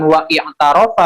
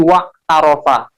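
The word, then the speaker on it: وَاعْتَرَفَ: I'tarofa itu hamzanya wasol. Makanya ketika hamzah wasol itu ketika ada kata sebelumnya didahului oleh kata lain, maka hamzahnya itu tidak terbaca. Bukan wa i'tarofa bacanya, tapi wa tarofa.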